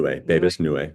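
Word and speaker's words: Bebas Neue: That's Babus New. Is that how you say it? Nue, Babus Nue.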